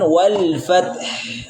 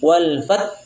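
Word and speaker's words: والفتح: Fath mensukunkan dua huruf ya. Caranya adalah dibaca dulu tnya. Fat wal fath ha tetap terbaca. Iya. Jangan sampai dihilangkan H-nya. Sebagian kita membacanya hilang H-nya. Teman-teman kita wal fatal. Nah, ini kesalahan. Kenapa menghilangkan huruf satu lagi? Tidak boleh walfat. Harus ada wal fath.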